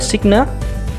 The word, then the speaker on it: signa: Kemudian ada huruf S di situ, ya, dengan pengucapan adalah signa, yang berarti adalah tandai.